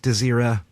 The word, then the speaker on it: Desira: It's contrary to popular belief, my last name is pronounced Desira. It's Desira. Desira. I apologize. No, don't worry about it. It's all right. I get it all the time. It's a Desira. It's spelled like desirable without the bull.